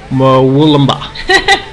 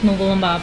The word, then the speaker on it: Wollumbin: And it's on Mount Warning Road, about 20 minutes drive from Wollumbin. Yeah, I usually have a lot of difficulty with those names. So I grew up around this area, so it's Wollumbin, but anyway.